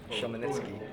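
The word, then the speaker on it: Khmelnytskyi: Hey there, so we are in the town of Chmelnytsky. Is that how you say it? Chmelnytsky.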